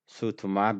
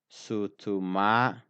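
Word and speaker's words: suutumaa: I left click over sutuma between the two sounds it is not any letter but it is a mark of the mouse click so it is s u u t u m a a if I read it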